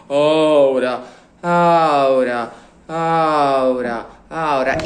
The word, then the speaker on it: aura: We don't say ora, we say aura, aura.